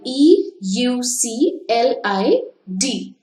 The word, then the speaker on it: Euclid: it is Euclid okay we spell it by e u c l i d but we read it as Euclid he is known as